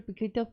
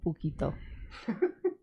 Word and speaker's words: Puketo: On Puketo or un Puketo? For those playing the home game, it's spelled P-U-Keto. Okay, there's a couple of ways of spelling keto. Could you? Puketo to keto. P-U-Keto the diet.